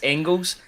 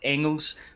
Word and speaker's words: Engels: say his name, Arne Engels. Now, people have been saying it's Engels, but I've got it under good authority that it's Engels for the player. You don't pronounce the G.